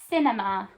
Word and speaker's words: cinema: So I've got that s pronunciation at the beginning. S, I, N, E, ma. Ending with a question mark. Where is the nearest cinema?